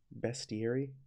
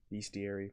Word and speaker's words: bestiary: the questions on the best theory all right all right I said it wrong bestiary bestir getting a hard